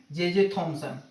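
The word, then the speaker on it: Thomson: इसको हिंदी में अगर लिखना चाहें तो लिखते हैं हम लोग जे टॉमसन, टॉमसन, लेकिन प्रोनाउंस क्या करते हैं? जे थॉमसन। ठीक है।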